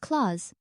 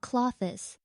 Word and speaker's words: clothes: Also, clothes is pronounced claws, not clothes.